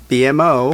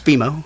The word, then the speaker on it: BMO: people will say BMO, BMO, and right, I always have to kindly say it's BMO, and I'm sure you've.